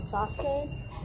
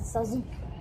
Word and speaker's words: Sasuke: I know it's pronounced Sakura and Sasuke, but I pronounce it Sakura and Suzuki.